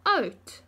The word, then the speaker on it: oud: Then on Wednesday, op Woensdag, my oma is oud en sy kry coat. Hey, it rhymes, oud en coat.